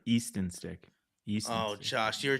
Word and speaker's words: Easton Stick: is he friends with Ethan stick Ethan stick who's e East sorry Easton stick East oh Josh you